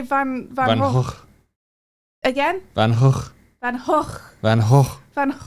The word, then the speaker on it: Van Gogh: The first G is pronounced as the last. My native language is grown to. Gog. Van Gogh.